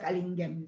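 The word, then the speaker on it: Canguilhem: Se escribe, parece que se pronuncia de otra manera, pero en francés se pronuncia Callinghem, ¿sí?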